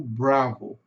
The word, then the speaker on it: Bravo: Significa o seguinte, que esse som no final do O aqui é som de o U. Então vai ficar bravo. Bravo.